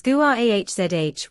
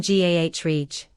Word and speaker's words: garage: Same with garage. In American English, it's GUAHZH with stress on the second syllable, but in British English, it's often GAH.